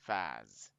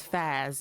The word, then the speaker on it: Faz: keep saying it wrong Faz so his name is Faz y'all Faz it's close to Fed is like that 70 show does anybody remember that